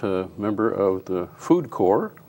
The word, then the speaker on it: Corps: And we're going to do that with a member of the Food Corps, that's C-O-R-P-S, for everybody who might mispronounce it, including myself.